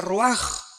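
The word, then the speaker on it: רוח: Se pronuncia roaj. Por ejemplo, cuando hablamos del Espíritu Santo, el Espíritu Santo es roaj, el cadosh, el Espíritu Santo.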